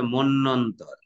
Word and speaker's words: মন্বন্তর: মতান্তর নাকি মনন্তর। স্যার? শব্দটি মনন্তর মুখে বলছো, কিন্তু এর উচ্চারণটা এরকম হবে না। উচ্চারণ হবে মন্বন্তর।